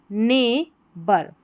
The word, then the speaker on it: neighbour: ये है ने बर, यहाँ पर GH साइलेंट है तो नेबर, और HOOD हुड, नेबरहुड। पूरी स्पेलिंग बन गई नेबरहुड। यहाँ पर भी GH, जो नेबर की स्पेलिंग रहती है इसमें GH साइलेंट रहता है, और जो OU रहता है इसको अ पढ़ते हैं।